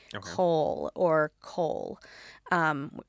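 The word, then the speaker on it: kohl: I am currently wearing is eyeliner specifically the Egyptian eyeliner which was called Cole. I'm going to make sure I pronounce it in the more like Egyptian way. Cole or Cole um K O H L.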